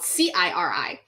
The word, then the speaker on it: Ciri: off because I was saying the Siri name, but in here it's spelled Ciri.